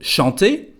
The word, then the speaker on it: chante: As you can hear again, we don't pronounce the final E, just the T before.